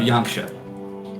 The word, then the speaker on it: Yanxia: You're going to want to look in the southwest of Yangsha. That's spelled Yanxia.